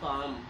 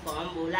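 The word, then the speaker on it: comb: जैसे this is अ कॉम, हमने कॉम बोला है, कॉम्ब नहीं बोला, बी साइलेंट होता है।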